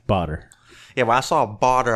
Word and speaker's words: Badr: My name is Badr, and that's pronounced like water with a B. Badr.